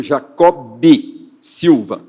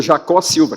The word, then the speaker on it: Jacó B. Silva: Ele ficava bravo quando as pessoas falavam, cortavam o B. Falavam "reverendo Jacó Silva". Não, Jacó B. Silva. Ele insistia tanto na escrita como na pronúncia que incluísse o B, né?